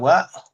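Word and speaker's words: は: Nah, kalau partikel dibaca ini kan harusnya hari hiraganaha ya. Iya. Nah, dibacanya wa kalau partikel.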